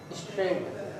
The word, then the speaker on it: strait: लेकिन इसकी spelling स्ट्रेट वाली नहीं है, इसकी स्पेलिंग है STRAIT, स्ट्रेट।